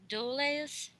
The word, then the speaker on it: Dulles: Alan Dulles, is that correct? Duels. I usually call them duels. Dulles? That's how you pronounce it.